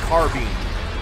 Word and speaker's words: carbine: It is pronounced carbine.